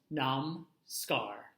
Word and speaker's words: Namaskar: It is pronounced Namskar. Namskar.